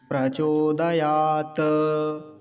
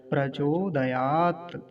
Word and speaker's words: प्रचोदयात्: अगर ये हलंत ना होता तो कैसे उच्चारण करते, तो बोलते प्रचोदयात, त ऐसा बोलते। लेकिन अभी हलंत लगा हुआ है तो कैसे बोलेंगे, प्रचोदयात, ऐसा।